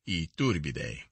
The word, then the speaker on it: Iturbide: if they are not superior to the iturbide pronounced iturbide but americans who run after royalty want to